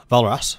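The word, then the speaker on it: Walras: Morris the French economists Leon Morris pronounced vollrath sorry has been held by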